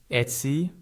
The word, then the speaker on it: Etsy: One helpful tip is to stress the first syllable a little more than the second. That means your voice is slightly stronger on Et and a bit lighter on sy.